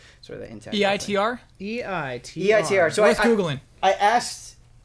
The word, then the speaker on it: EITR: of this game, and they said think of it as the number 8. Yeah. And then tur. It is the number 8 without the GH.